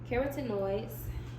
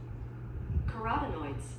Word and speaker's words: carotenoids: Dark green or orange vegetables are especially helpful because they contain keratenoids. I don't know if I pronounced that properly. Carotenoids.